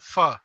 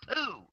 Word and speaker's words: pho: Pho. Oh, I thought that was pronounced poo.